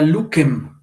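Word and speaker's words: lucem: Esto también lo explicamos más adelante, pero en latín esto sonaba como K, la C siempre sonaba K, entonces era que, ki, y eso se convirtió a sonido Z, ¿no? Por ejemplo, esto se pronunciaba, en realidad era Lukem, Lukem, y pasó luz. Ya nosotros pronunciamos luz, ¿no?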